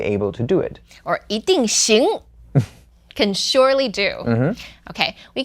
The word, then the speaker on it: 一定: Okay, in the word 一定, the E word changes to the second tone because it's paired with 定, which is the fourth tone. So it becomes 一定.